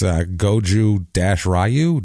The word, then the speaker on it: Goju-Ryu: The word Ryu is in there like the Street Fighter guy. It's Goju-Ryu, Goju-Ryu.